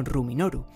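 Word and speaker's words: ルミノール: El caso es que el luminol en japonés se pronuncia como Ruminoru. Como podéis observar, contiene Rumi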